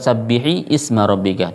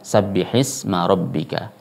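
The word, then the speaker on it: سَبِّحِ اسْمَ رَبِّكَ: Sabbihisma rabbika, bukan sabbihi isma rabbika, tidak, tapi membacanya sabbihisma rabbika.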